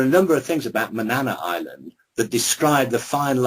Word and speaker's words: Manana: And there's an island off the coast of Maine that I visited called Manana. How would the Americans say it? Manana. It's like saying banana.